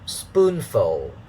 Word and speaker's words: spoonful: talked about this uh first level is stressed it has a higher pitch and second syllable is unstressed it has a lower pitch dada so spoonful uh is uh uh